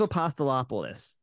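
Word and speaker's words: Apostolopoulos: name of course but we just love to mispronounce it right uh I just don't even try it's a pasta lopolis yes Steve apostolopolis well it's more fun to say Steve apostolapa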